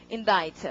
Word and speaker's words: indict: 자, 그러면 발음부터가 굉장히 다르죠. 이거는 외시에서 발음 문제로 났습니다. 오래전에. 발음 어떻게? indict 이렇게 했었고 이거는 indicate 이렇네요.